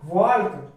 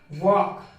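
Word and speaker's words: walk: तो देखिए टॉल्क, वॉल्क, चॉल्क, यॉल्क, folk, लेकिन यह गलत हो जाता है। तो हाँ यहाँ पर एल साइलेंट है क्योंकि के पहले आ रहा है। यदि डी एफ के एम कोई भी वर्ड यदि इन वर्ड के पहले यदि एल आता है तो वह साइलेंट रहेगा। तो यहाँ पर देखिए इसको क्या पढ़ा जाएगा? टॉक, वॉक, चॉक, यॉक और क्यों फॉक।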